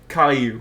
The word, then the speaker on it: Caillou: Caillou? Caillou.